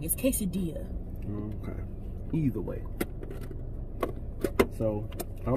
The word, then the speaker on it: quesadilla: Do y'all say quesadilla or quesadilla? First off, either way, if you pronounce both of those, you're ignorantly wrong. It's quesadilla.